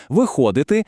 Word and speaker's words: виходити: Якщо дієслово відповідає на питання, що зробити, тобто дія завершена, то наголос падає саме на цей префікс: вийти, виписати. А от якщо питання, що робити, дія ще триває, то наголос тікає з префікса далі у слово виходити, виписувати.